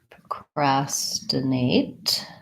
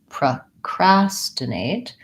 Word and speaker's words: procrastinate: procrastinate and procrastination procrastinate so we have second syllable stress on this procrastinate and because it's second syllable stress my PR Oh does not have a clear vowel it sounds like pro its vowel schwa procrastinate and we have clear a vowel here at the end eight procrastinate I do think